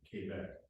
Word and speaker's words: Quebec: They have a pronunciation guide, and it's pronounced the way the ARRL wants you to say it, Quebec.